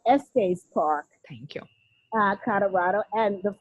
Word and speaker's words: Estes Park: location, the Stanley Hotel in Est Park, Colorado. I Hopefully I'm pronouncing it okay. It's Well, beautiful location. You were close. It's the Stanley Hotel at Estes Park, Thank you.